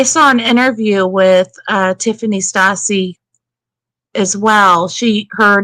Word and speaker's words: Stasi: and some people say stasi and some people say stacy i'm going to pronounce it stassi met lisa stasi and